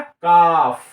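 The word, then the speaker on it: calf: इसका सही पूंस होगा काफ काफ समझ गए ना काफ सी एल एफ एल को छोड़ देना एल का उच्चारण नहीं करना तो क्या हो जाएगा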